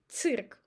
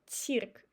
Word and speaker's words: цирк: The same with цирк. We're not trying to make цирк. We just pronounce I as I, цирк.